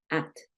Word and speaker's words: acted: que pasó aquí Entonces como la última letra es una t vas a pronunciar esa Ed muy parecido acted acted listo Entonces en